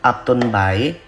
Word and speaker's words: Upton Bay: Aku pakai yang shade Penthouse dari palette Upton by ya. tulisannya Upton Bay ya, bacanya terserah kalian lah, Upton B juga boleh.